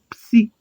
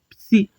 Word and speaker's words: psi: Porque se eu pegar o pi e o sigma e juntar os dois, dá a pronúncia de psi, psi.